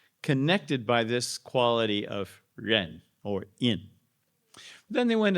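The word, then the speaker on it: 仁: The pronunciation Chinese ren or Korean in it means human relatedness.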